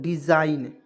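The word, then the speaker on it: design: यहाँ देखिए डी ई से क्या देखिए डिज़ाइन, अब देखिए एन से पहले आया जी, एन से पहले एन है इसके पहले जी आया तो हमेशा साइलेंट रहेगा, क्या हो जाएगा दोस्तों कौन साइलेंट रहेगा जी, तो इसमें जी को हमेशा साइलेंट रखें। जैसे मान लीजिए डी ई से यहाँ पे डी का प्रयोग करेंगे, ठीक है, डी एस आई जी एन, तो इसे क्या पढ़ेंगे दोस्तों डिज़ाइन, ठीक है ना, डिज़ाइन पढ़ेंगे, ठीक है।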